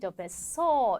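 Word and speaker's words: 別荘: 아아 그렇죠 별장 예 아까 리을이 들어가면 즈 발음이라 그랬죠 그러니까 벳 그다음에 장 이응 받으면은 장음이 베소 이렇게 읽어 주셔야 되겠죠이 별장은 깨끗하고 쾌적하다는 거예요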